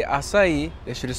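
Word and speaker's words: açaí: Hmm, dude, these acai bowls are pretty good. It's pronounced acai.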